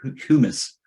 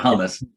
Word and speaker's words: humus: But after the fourth storm, because it's all humus. Humus, how do you say that? It's not hummus. That's a delicious treat.